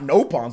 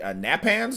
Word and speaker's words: Nopon: review at first, dude, they mispronounced. They called them not nopons. They called them like napans or napans or something like that. They called them instead of Rhine, they called them rain.